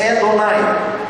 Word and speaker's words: Adonai: Elohim, Deus dos exércitos, e também Adonai, que significa meu Senhor. Adonai, reparem bem as vogais de Adonai. Também pronuncia-se Edonai, E-O-A.